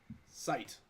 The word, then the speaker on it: seit: No, SEIT. Sight.